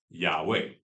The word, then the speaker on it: Yahweh: And so when we pronounce tetragrammaton, it sounds like Yahweh.